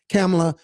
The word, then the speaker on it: Kamala: There was nobody to say, time out, Kamala, Don't say that. That's the last thing you should say. You know, they keep saying Kamala or Kamala. You notice that? Intentionally mispronouncing her name.